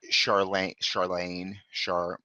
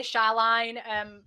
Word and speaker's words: Charlaine: But I would say, based on the spelling, that it's Lane, as in Elaine, like Charlaine.